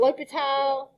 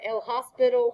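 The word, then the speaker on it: L'Hôpital: learn about lipitos rolling some people call it l'hopital uh joe galleon likes to call it l hospital in his defense some people spell it with ass and it does look just like hospital but those of you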